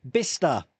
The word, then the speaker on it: Bicester: You're not coming to Blister this year. Bicester, not Blister. Bicester. Although it is spelled Bicester, Bicester, but it's pronounced Bicester.